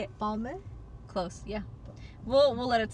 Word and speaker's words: Balmain: I would say Balmain. Because it's like my man.